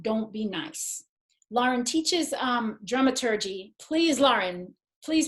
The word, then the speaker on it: dramaturgy: And you were saying it right, it is dramaturgy, and nobody knows how to say that theater in Amsterdam, so don't worry about that.